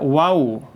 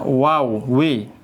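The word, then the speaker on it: واو: Nah, ini namanya waw. Gampanglah kalau di kita mah wau. Wau pakai U. W kita sering mengucapkan itu ya.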